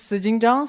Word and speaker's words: Zijing Zhang: My name is Zijing Zhang, so just so you know the correct pronunciation.